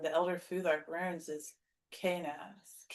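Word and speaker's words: Kenaz: Well, actually, the letter K in the Elder Futhark runes is Knaz. Knaz. I'm trying to say this. It's the first syllable has the stress.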